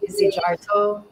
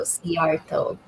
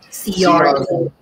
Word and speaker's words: Szijarto: They usually say Szijarto. They pronounce the Z and the J. But the Hungarian version is a silent Z and the J is pronounced as a Y. So Szijarto. Szijarto.